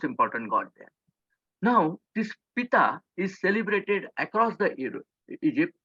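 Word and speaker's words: Ptah: girl called p-t-a-h p-tth the pronunciation actually if you feel that is the same Pita means he was the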